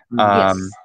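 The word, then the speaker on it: самолет: They both ended with a voiceless "ta." Yes, always. Yeah, yes. That's the phonetic rule in the language. Samolet.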